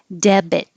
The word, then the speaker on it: debit: Debit. You do say the B. It makes two syllables.